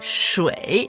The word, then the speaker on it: 水: Ouais, shui. Shui. J'adore ce caractère, il est super beau. Ouais, déjà la prononciation c'est Troisième tour. Ouais. Shui. S-H-U-I. Shui. Donc ça s'écrit shui, Quoi comme dans feng shui.